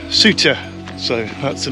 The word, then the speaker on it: Souther: is spelled sulfur but I understand it is pronounced suture so that's the name we'll be going with